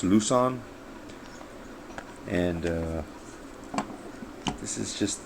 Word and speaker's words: Luzon: Cold Steel L on or I think it's pronounced lucon and uh this is